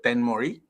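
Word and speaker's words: Thenmozhi: It's led by an individual named Tenmoji Soundarajan. Tamils would pronounce it as Tenmori Soundarajan.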